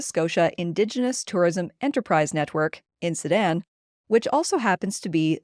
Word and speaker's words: NSITEN: Robert says the acronym NSITEN is a Mi'kmaq word pronounced NSITEN, which means we want you to understand.